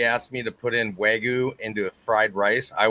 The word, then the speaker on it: Wagyu: Wagyu, yep.